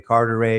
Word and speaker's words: Carteret: Carteret, the Day Carteret family, Carteret, if you're going to say it right.